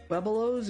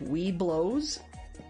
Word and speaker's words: Webelos: Webelos or something like that. The number of times that we've heard it pronounced as like "we blows," as though that second E isn't there.